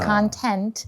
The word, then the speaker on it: content: Yeah, it's pronounced as content.